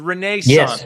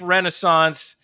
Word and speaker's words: Renaissance: They pronounce it the Renaissance Club. It looks like Renaissance.